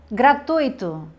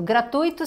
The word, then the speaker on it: gratuito: Porque existe uma tendência para se falar gratuito, como se tivesse um acento, como se a sílaba tônica fosse aqui, e não é. A sílaba tônica, a sílaba forte é no tui, gratuito, certo? Gratuito e não gratuito.